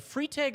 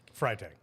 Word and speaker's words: Freitag: have Fire Marshall is a free tag or fry tag fry tag fry tag I've been pronouncing your name wrong my entire career I've worked here for